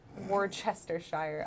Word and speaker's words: Worcestershire: Worcestershire. Oh yeah, that's the right way to say it.